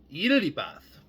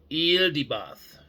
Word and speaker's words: Yaldabaoth: And people do call this being Yaldabaoth, but the actual way to pronounce this creator being's name, this demiurge name, um, is Yaldabaoth, like with like the animal eel, the word eel, EEL.